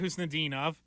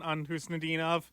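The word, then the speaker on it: Khusnutdinov: I think we're still working through some nicknames on Husnudinov. You hear Kuzi, Kusti. Like, Pasta called him Kuzi. I thought he threw the T Which, in there. ironically, you don't pronounce the K in his name, so, either way, it's not the best, but...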